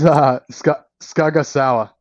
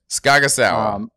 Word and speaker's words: Sgah'gahsowáh: I'm terrible at pronouncing names, and how the hell do I pronounce your name? It's Sgah'gahsowáh. Sgah'gahsowáh.